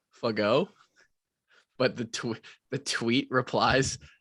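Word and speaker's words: Fagot: pronounced yeah i i remember watching him it's pronounced fuck-o fuggo but the the tweet replies to him being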